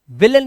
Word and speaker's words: villain: क्या दिया है, एन, तब एआई का उच्चारण अ होता है, सिर्फ अ, ए नहीं, सिर्फ अ। जैसे VILLAIN, अब यहां पर देख रहे हो आप एआई दे रखा है, इसे ना विलन पढ़ेंगे, विलन, विलन, अन, विलन।